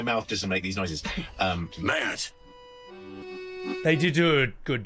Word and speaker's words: merde: voice acting was trying to make everybody say merde and putain. All the French words, it was always lovely to try to teach them to have the right pronunciation. Merde.